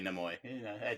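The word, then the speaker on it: Nimoy: and it's good for kids have you been pronouncing it neoy for many years you know some people say Neo I just Leonard neoy is very famous for playing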